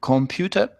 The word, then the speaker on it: computer: So how would you pronounce that? Computer. Yeah. It's just each letter pronounced. Yeah, and you get the nice R at the end.